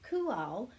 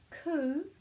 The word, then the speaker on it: Kū: was called that in the first place so kual is to do with the young animals and